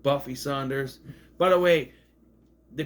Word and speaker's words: Sanders: name is not Buffy Saunders by the way they pronounce it Saunders but it spells Sanders if you want to pronounce it Saunders you got to put a u in there s a u n